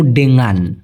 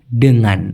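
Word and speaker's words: dengan: করেন তো প্লিজ ভাই অনেকে উচ্চারণ করতে পারে না ডেঙ্গান বলে ডাঙ্গান বলে ডেঙ্গান ডোন মানে এখানে ডকার তারপরে উময় আকার দিলে সবচেয়ে ভালো হয় ডিঙ্গান ডিঙ্গান ব্যাং বলি না আমরা ব্যাং সেরকম ডিঙ্গান ডিঙ্গান এই ডেঙ্গান শব্দের মানে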